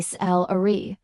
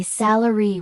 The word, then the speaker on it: salary: The word is salary, and English learners almost always say sal with the stress on the second syllable. When native speakers say salary with the stress on the first syllable, this misprononunciation immediately signals